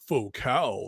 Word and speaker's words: Focal: voice ever he says that's pronounced FAL they're French and I'm all like